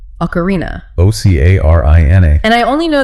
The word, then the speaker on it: ocarina: The pronunciation is aku-arino. The stress is on that R-E-E. Ocarina.